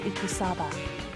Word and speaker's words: Ikusaba: Nukaro ikusaba. Ikusaba. There we go. I got the proper pronunciation now.